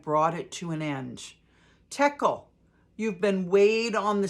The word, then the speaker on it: Tekel: This is the inscription that was written: Mene, Mene, Tekel, Parsin. So it's spelled M-E-N-E, Mene, comma, many, M-E-N-E, comma, Tekel, Tekel, comma, Parsin, Parsin. Here's what these words mean.